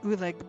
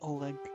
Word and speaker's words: Oleg: eggs Trading Post I am purposely mispronouncing his name I knew him as oolig before I found out his name was really Oleg well technically not before